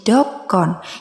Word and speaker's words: donghon: Contoh dalam bahasa Simalungun adalah donghon. Jika diucapkan menjadi dokon yang artinya katakan.